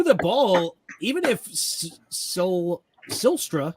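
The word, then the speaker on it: Zylstra: ball even if so sylstra I believe is how you say his last name either silster caught them first or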